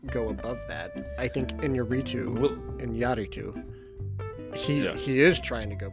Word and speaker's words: Iñárritu: Say the name of that director as it should be pronounced. Iñárritu. Alejandro González Iñárritu.